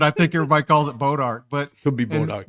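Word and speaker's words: Bois d'Arc: Boat Ark is what a lot of people call that lake, and did I say it wrong? Boys Ark. You didn't. I think that's like how it's actually, but like the French say it. Yeah, how it probably should be said, but I think everybody calls it Boat Ark.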